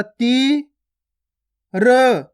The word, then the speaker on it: तीर: रा का उच्चारण कैसे करेंगे? र। रा नहीं करेंगे। अगर रा करेंगे तो शब्द गलत हो जाएगा। अपन क्या करते हैं, जब भी शब्द पढ़ते हैं तो लास्ट वाले अक्षर का उच्चारण अपन इसी प्रकार से करते हैं, यानी कि आधा करते हैं। कैसे करेंगे? ता में बड़ी की मात्रा ती, र, तीर। सिंपल अपना बन जाएगा तीर।